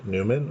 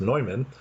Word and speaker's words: Neumann: to the United States St John Newman or sometimes pronounced nyman um I'll talk a